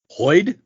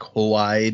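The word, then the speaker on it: Hoid: a person I was I was hoping after using one of these with the hard consonants that you might go like hoed or something but no you got it the man the myth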